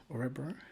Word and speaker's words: Örebro: Did I pronounce that right? Örebro?